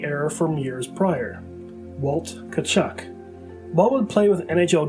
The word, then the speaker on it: Tkaczuk: the team made an announcement on the proper pronunciation of his name correcting the error from years prior walt cachuck ball would play with nhl greats such as